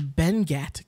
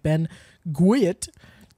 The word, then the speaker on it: Benguiat: similar but I'm using Ben guat condensed or Ben Ghat condensed it's actually pronounced Ben yet it looks like Ben gwit but let me spell it for you be